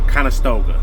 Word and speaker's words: Conestoga: You know, you see them all over the road, flatbeds, low boys, step decks, how you pronounce it is the Conestoga.